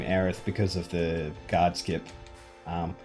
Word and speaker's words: Aerith: hair and foxy's hair unfortunately we can't name aerith because of the guardskip um oh that's one thing i didn't point out um you will notice that aerith's name is aerith with a th um because